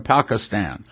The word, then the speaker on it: Pakistan: try doing it in Pakistan by the way I'm pronouncing that wrong he corrected me it's Pakistan three hundred churches he